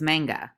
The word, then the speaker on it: manga: Many people read it and interpret it as manga, but the Japanese pronunciation is manga.